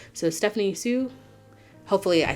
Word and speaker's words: Hsu: the name Hsu but I think the H is silent so Stephanie Sue hopefully I said her